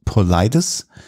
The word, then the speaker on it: Paulides: geht um die Person David polides so haben wir es an einigen Videos die aus Amerika stammen ausgesprochen bekommen geschrieben Paul Liedes aber scheinbar sagt man in feinsteins und ähm dieser